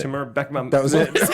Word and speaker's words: Timur Bekmambetov: And Timur, I'm gonna say his name on Timur Bekmambetov. No, you nailed it. Timur Bekmambetov.